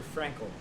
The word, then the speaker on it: Frankl: It's a book written by an Austrian Jewish psychiatrist named Viktor Frankl. His last name is spelled F-R-A-N-K-L, Frankl.